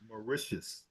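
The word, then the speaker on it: Mauritius: um Canada in Alberta Canada cool cool okay marcius is that how you pronounce it that's perfect yeah okay cool cool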